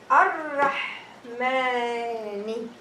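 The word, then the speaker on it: الرحمن: But I will skip the lam, so it's going to be Ar-Rahmani.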